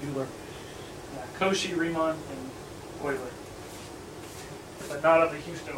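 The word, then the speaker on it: Euler: pronounced as a math major the most common mispronunciation is what you lorae that's what it looks like but it's not pronounced dueler cosi Riemann and oily I thought of the Houston Oilers sorry units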